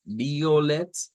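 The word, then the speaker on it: violett: Veíamos que es violet, la pronunciación de este, de acuerdo al idioma Dutch. Lo veíamos el día de ayer, separando esa B de la O. No es un diptongo, sino que serían separados.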